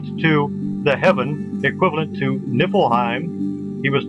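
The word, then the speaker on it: Niflheim: Now you also had Nippleheim spelled with a V here but it's usually spelled with an F pronounced Nippleheim.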